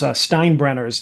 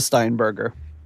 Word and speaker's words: Steinberger: a one of those Steinbrenners to play the solo. Mm-hmm. The Steinbrenners. The headless. I know I said it wrong. Yeah, if you're new to the show, we know it's called a Steinberger.